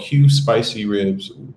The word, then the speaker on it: Que Spicy Ribs: So it's called Q Spicy Ribs. It's spelled like QUE Spicy Ribs, like K in Spanish, like K spicy, but Q spicy in English.